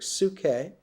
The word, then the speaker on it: psyche: The Greek word psyche, pronounced in Greek psyche, means butterfly.